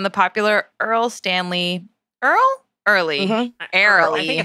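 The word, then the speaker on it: Erle: popular earl stanley earl early arrow i think it's yeah you're an earl it's spelled e-r-l-e in case anyone is wondering why i paused there earl stanley gardner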